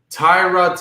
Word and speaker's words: Tyrod: The way he pronounces his name. So it's not Tyrod, it's Tyrod.